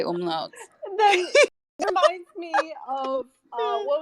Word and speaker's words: umlaut: I like how you pronounce the U or the, what is it called above the U? The umlau? Umlau? Where it makes it the ooh sound? Umlaut.